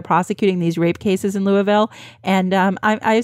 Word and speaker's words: Louisville: the way I pronounced Louisville correctly there did you I did you pronounced it wrong it's not Louisville it's Louisville Le I'm thinking about the